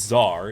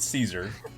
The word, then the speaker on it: Czar: So at least now everybody knows it's Czar. It's not Caesar.